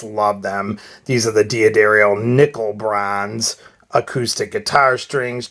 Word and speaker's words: D'Addario: of diaderio and guitar i guess it's actually pronounced daddario they told me when i called them a while ago um but i always say dia dario but it's actually da dario so get that right anyways i've been using